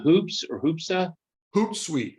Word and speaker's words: Hootsuite: Hootsuite, Hoot. It looks like an owl.